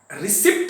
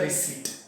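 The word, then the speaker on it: receipt: Please issue the रिसिप्ट, रिसिप्ट नहीं पढ़ते हैं यहां पे ना, पी साइलेंट होता है। प्लीज इशू द रिसिप्ट और प्लीज गिव द रिसीट।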